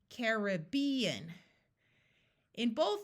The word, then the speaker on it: Caribbean: said in some places people say Caribbean where the rib is accented and the first a